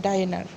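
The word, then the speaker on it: Diener: मैं तो डिनर उच्चारण करता हूँ, टीओ डिनर, लेकिन इसका जो मैंने कि मैं तो रॉन्ग प्रोनाउंसिएशन करता हूँ। जो सटीक प्रोनाउंसिएशन है वो है डाइनर।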